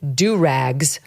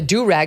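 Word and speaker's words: durag: just really don't want to see any floor-length do-rags or pimp canes," she said. Now, I wasn't sure what the do-rag, it's spelled D-U-R-A-G, was, because in my head that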